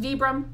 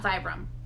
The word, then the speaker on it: Vibram: And by the way, it is pronounced Vibram, not Vibram.